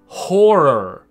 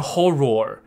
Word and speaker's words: horror: 的这个介系词就是状态，那这个字不要把它念错，它不念作 horror。你看我们刚刚有镜子这个字，我也没有特别跟你讲，我就要等到现在才整理可以看镜子跟恐怖。它的发音是很像的，都是 or 结尾。那我要强调，这都是耳朵的耳的那个音 er，所以镜子 mirror，可怕 horror，所以你不要念成 horror，也不要念成 mirror，都没有 roar 的音，听懂意思吗？没有 roar，就是 er，